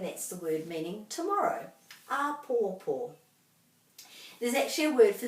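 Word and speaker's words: āpōpō: as in tomorrow is lots of macrons here so that all these three syllables have to be pronounced just as given as much emphasis as each other ah poor poor and that's a lovely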